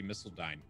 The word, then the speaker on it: Missiledine: Oh man, my name is Misseledine, and it rhymes with online.